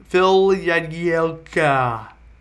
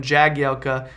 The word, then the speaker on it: Jagielka: Phil Jagielka, which for the majority of the time I've known that guy, I've called him Jagielka, but apparently his name is pronounced with a y sound.